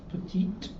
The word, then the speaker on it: petit: Okay, at its most basic, the phenomenon of liaison is illustrated by the word for small, which is pronounced petite before a vowel, but petit before a consonant.